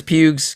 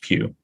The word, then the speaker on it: Pugh: like is it like as in you're going to a church and then you want to sit in a pew yes in a pew